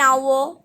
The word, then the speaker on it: hour: the letter h why because h is silent an hour and honor okay we use and